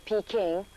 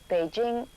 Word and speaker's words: Beijing: site in sounds of Peking or as the official pronunciation goes Beijing is not only the